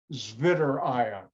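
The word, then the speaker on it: Zwitterion: Now, since I know German, I'm going to pronounce it the German way, Zwitter ion. And you pronounce in German a W like a V in America.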